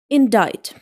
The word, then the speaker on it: indict: It should be pronounced like indict.